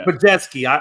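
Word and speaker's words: Podziemski: Thank you, Pajetsky.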